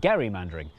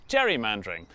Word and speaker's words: gerrymandering: gain became known as Gary mandering and then everyone started pronouncing it wrong which is how it became known as Jerry mandering which was good news